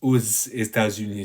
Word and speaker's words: aux États-Unis: And cet été, nous allons aux États-Unis, you kind of hear this aux États-Unis, so this S at the end, which is called a liaison in French.